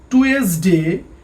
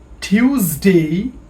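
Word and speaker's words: Tuesday: আগে আমরা বলতাম মানডে বাট ইটশুড বি মানডে উচ্চারণটা ভালো করে খেয়াল করি মানডে আগে আমরা বলতাম টুয়েসডে বাট ইটশুডবি টিউসডে উচ্চারণটা ভালো করে খেয়াল করি টিউসডে আগে আমরা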